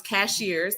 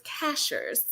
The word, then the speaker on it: Cashiers: We thought it was Cashiers because that's what it spelled like a cashier at the grocery store. But we learned very quickly that it's Cashiers.